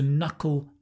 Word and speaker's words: knuckle: Now, a nice little phrasal verb here is to knuckle down. To knuckle down. Hard to pronounce, I know. No, fun to pronounce. Knuckle, cull. It's the dark L, knuckle, to knuckle down.